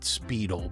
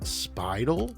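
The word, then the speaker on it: Speidel: chinese special on this i always called it speedl but i was corrected and somebody had said that it's actually pronounced spidel or spidel or spidel something like that but anyway what i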